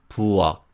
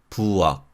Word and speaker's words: 부엌: When these consonants are used as batchim, they are all pronounced as unreleased 기역 sounds. Listen to the following words. 막, 막, 박, 박, 부엌, 부엌.